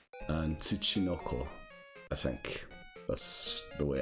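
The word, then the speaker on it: ツチノコ: By the way, I looked up how to pronounce it. It's Dokebi and Tsuchinoko.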